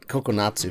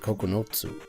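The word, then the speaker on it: ここのつ: Oh, not kokonatsu, but kokonotsu.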